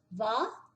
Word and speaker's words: hva: Então ele na verdade não tem som de nada, então fica só os dois aqui. Vó. Lembra que o A não é o nosso A. Fechadinho.